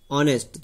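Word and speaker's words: honest: न्यू इसमें के एन ई डब्ल्यू, नाइप और के इसमें साइलेंट है, ऑनेस्ट नहीं ऑनेस्ट तो इसमें एच साइलेंट है, एच ओ एन एस टी, नी इसके अंदर के साइलेंट है।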